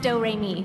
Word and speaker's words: Doremi: It's spelled like notes and pronounced Doremi.